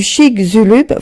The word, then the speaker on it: Chicxulub: Et donc du coup on se rend compte, et ils se sont rendus compte parallèlement qu'un impact du Chicxulub, vous m'excuserez si je prononce mal, parce que ça, je l'ai retrouvé